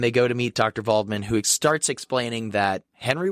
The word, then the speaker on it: Waldman: follows him to go meet Dr vman or spelled Dr Waldman it's spelled with a W but they call him Dr this whole time yeah